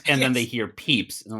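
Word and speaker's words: Pepys: of his contemporary Samuel Peeps. You know, it's spelled peep ys. You know that guy, Samuel Peeps. Yeah. Famous diaries. Yeah. Uh who everybody in their brain goes Samuel Pepis.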